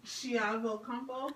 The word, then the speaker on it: Chiavo-Campo: How do we pronounce it again? Chiavo-Campo.